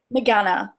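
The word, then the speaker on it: Meghana: Is it Mega? How do you say her first name? I just want to get it right. Megana. Megana Rao?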